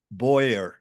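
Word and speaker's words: bowyer: And Big Jim is a traditional boyer. Did I say it right? A boer? Boyer. Yep, Boyer Boyer. is right. So I did say it right.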